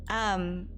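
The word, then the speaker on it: 焼き芋: Yakiimo, thank you. I'm just like, how is it normally pronounced?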